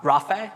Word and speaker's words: Raafey: something first of all who am i um rafae so that's the correct pronunciation that's all good not many people get